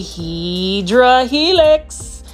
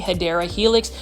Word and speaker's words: Hedera helix: It's kind of like when you try to grow a Hydra helix. Or the correct way to say it is English ivy, Hedera helix.